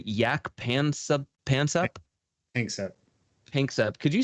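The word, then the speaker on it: Jaak Panksepp: You said yak pansep? Pansep. Could you spell that real quick?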